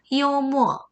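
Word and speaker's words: 幽默: 쌤 발음 한번 들어보세요. 굉장히 유머러스하다라는 유머스럽죠? 그래서 요머, 요머, 요머 이렇게 외워주시면 되겠고요.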